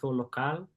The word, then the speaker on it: local: you can you can judge my accent a local is that how you say it in Portuguese yes perfect that means local lodging